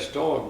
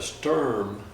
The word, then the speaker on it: storm: And these Alabama storms, it's a bad storm, but they call it a sturm in Alabama. They wouldn't pronounce it storm.